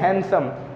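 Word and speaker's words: handsome: ठीक है गाइस, आप जैसे समझ सकते हैं हैंडसम, एक वर्ड है हैंडसम। ठीक है गाइस, यहाँ पे हम हैंडसम बोलते हैं लेकिन हमें हैंडसम नहीं बोलना चाहिए, हैंडसम है, हैंडसम। ठीक है, तो डी साइलेंट होता है।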